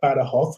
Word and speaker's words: Badajoz: see in the southwest badahoff it's written in badajoz but badahoth which is how they pronounce it here it's on the border